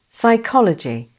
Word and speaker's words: psychology: The next word is psychology. The correct answer is A. This word has a silent P at the beginning and has four syllables with the main stress on the second syllable.